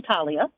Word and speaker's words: Thalia: my name is Talia it's actually pronounced just like yours people call me Talia but it's actually Talia and I am a